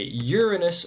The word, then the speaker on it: Uranus: Uranus gets its name from an ancient Greek titan, the titan of the sky, Uranos, which is why I say Uranus rather than saying, well,